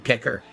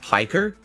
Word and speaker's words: Piker: Anyway, let's get into this June the King documentary on Hassan Pecker. I've always been interested in how you become a commie jock. He's a lolcow in his own right. It's pronounced Piker?